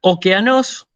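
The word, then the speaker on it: ὠκεανός: unidad la siguiente palabra okeanos que significa océano precisamente fíjense que como leo el espíritu suave no tiene ningún valor no me aporta nada a la pronunciación de la de la palabra hoteles esto significa imperfecto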